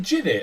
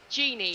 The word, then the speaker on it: Genie: Is it Ginny or Genie? Genie, like Aladdin, like Oh, lamp, right, and the that's name cool.